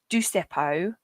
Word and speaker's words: Dusepo: be saying it wrong is it deepo yep Oh right it is right there got it right yeah I always worry